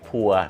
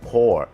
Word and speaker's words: pour: pour แปล ว่า เท ออก เสียง โพ นะ ฮะ เหมือน P ไม่ ใช่ พัว นะ ฮะ พัว น่า จะ เป็น นะ ฮะ เอ่อ พัว กับ เมีย นะ ฮะ pour So It's pouring Down